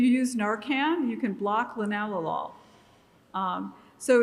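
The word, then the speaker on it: linalool: is lenol which looks like lenol but it's pronounced by chemist linalol and um that compound is one of the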